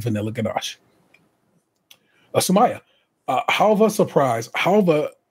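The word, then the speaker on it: halwa: Halva, though pronounced with that V, is spelled with a W. H-A-L-W-A. Halva surprise loaf cake with a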